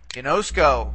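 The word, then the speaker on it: γινώσκω: We have three syllables, see, ginosk, and ko, okay? But in this case, we're only going to be able to bring back the accent one syllable because the ultima is a long vowel. So the accent would have to go one syllable back on the penult, okay?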